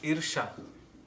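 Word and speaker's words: ईर्ष्या: How do you spell that? LOBHA. Oh, the Sanskrit words? Oh. Yeah. Then envy is irsha.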